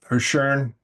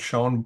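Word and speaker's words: Schön: paper by Donald sh or shurn based on how you pronounce his last name Donald Shon if you don't know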